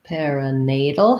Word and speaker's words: perinatal: syllable buffeting then perinatal perinatal has stress on the nay syllable again we have a tal here this is the flap t syllabic l combination so just like in seattle little bottle you go from the d to the l with a little bit